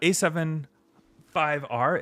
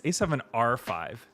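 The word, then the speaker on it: A7R V: Okay, to answer your question on A7R, uh, A75R, it's A7R5 is actually how they say it.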